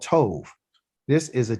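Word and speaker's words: טוב: And this is a bet, but because it's the last letter there and it doesn't have a dot inside of it like this, we're going to call it a V sound. So T-O-V, Tove.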